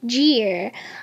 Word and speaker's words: Jarvis: And right here, now there's some different pronunciations of his name, but he says it's pronounced Jeer. I'm not really sure, but that's just what I'm going to go with because that's what he says how to pronounce it.